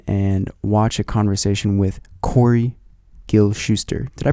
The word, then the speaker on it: Corey Gil-Shuster: to our conversation and watch a conversation with corey gil shuster did i pronounce that correctly you did you did perfect